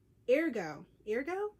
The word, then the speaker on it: Ergo: Ergo is how you pronounce it.